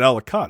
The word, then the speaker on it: Ellicott: is it elegant elegant it's pronounced ellicott in maryland i don't i don't think everyone else pronounces it that way everyone else pronounces that alicat i would assume yeah